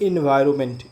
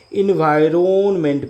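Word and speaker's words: environment: कहने के लिए एनवायरमेंट लेकिन नमेंट पढ़ेंगे इसको क्या पढ़ेंगे एनवायरनमेंट पढ़ेंगे एनवायरन इन इन वाय रोमेंट यह होता है स्पेलिंग ये होता है एनवायरनमेंट एनवायरन आरओ एरोन मेंट यह कहना है एनवायरन एनवायरनमेंट ये कहना है एनवायरनमेंट एमई एनटी एमई एनटी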